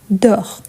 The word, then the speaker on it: dort: Donc, il dort. Donc, la prononciation, c'est la même.